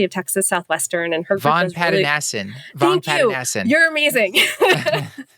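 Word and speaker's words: Vongpatanasin: I cannot pronounce her last name, unfortunately, but she's at University of Texas Southwestern, and her Von Pattanassen. Thank you. You're amazing. Von Pattanassen, thank you.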